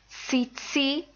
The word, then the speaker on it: tsetse: So when you have a word that ends in ts, like it's, that ts sound at the end of its, or even at the end of cats, that's kind of the sound we're looking for.